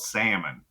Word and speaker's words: Salmon: of my name, because my name's spelled salmon, like the fish, and it's pronounced Salmon because we grew up thinking we were British.